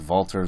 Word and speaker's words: Walter: and voltar it's it's it's spelled Walter but you pronounces vaulters like a V in there and I don't know